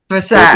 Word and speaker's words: Versailles: It's a French Versailles. word. Versailles. Yep.